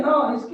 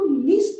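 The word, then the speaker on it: nice: देखो अभी ये वर्ड लिख दिया हमने नाइस, तो ये ई है ना, इसकी वजह से ये जो आ है उसको नीस नहीं बोल रहे अब, नाइस लंबा चौड़ा उसका उच्चारण कर रहे हैं।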